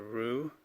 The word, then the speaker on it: Roue: Thoughts on this watch that I got, the Roue. I believe that's how you pronounce this, R-O-U-E, and I believe it's wheel in French.